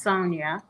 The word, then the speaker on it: Sonja: with the j because my name is actually pronounced sonia um but i just